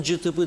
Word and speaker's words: CTP: Ben cıtıpı derim. Halk öyle söyler çoğu.